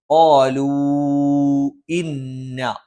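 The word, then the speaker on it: قَالُوا إِنَّا: ആലൂ ഒരു പദത്തിന്റെ അവസാനത്തിൽ മദ്ദക്ഷരം വന്നു, അടുത്ത പദത്തിന്റെ ആദ്യത്തിൽ ഹംസു വന്നു. അനിവാര്യമായി നീട്ടേണ്ടതില്ല, എങ്കിലും ഏറ്റവും ഉത്തമം നീട്ടി ഓതുന്നതാണ്. ആലൂ ഇന്ന.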